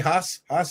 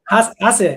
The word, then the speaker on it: HACA: We met at the HACA, Haas is how you say it? Haas, yeah.